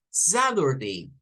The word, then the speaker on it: Saturday: Y si completamos, el estadounidense promedio, el día sábado en inglés, nos lo va a pronunciar como Saturday. It's tomorrow. It's Saturday. Escuchen la diferencia entre Saturday y Saturday. Saturday, Saturday. Entonces, este es un fenómeno exclusivo de los estadounidenses.